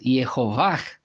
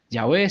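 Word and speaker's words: יהוה: hebreas de esta manera, pero si quieres pronunciar correctamente, Yod He Vav He es Yehovah, esa es la forma correcta. Y ahora, pues lo encontramos que ya no pronuncia Yahweh, sino que pronuncia Yehovah.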